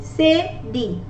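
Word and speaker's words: cédille: We don't pronounce il. It's E. E. We don't say il. We say E. Say D.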